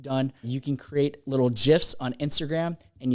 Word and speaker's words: GIF: gifs on instagram and yes it is called gif according to uh steve wilheit he is the creator of it so i think we should go with his opinion of how you say it you create gifs you